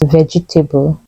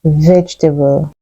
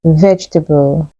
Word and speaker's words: vegetable: pronounce this word as vegetable this word has just three syllables it's pronounced vegetable vegetable here's an example we